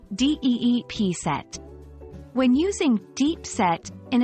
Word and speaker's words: deep-set: established in her values the pronunciation of deep set is straightforward with emphasis on the first syllable d p set when using deep set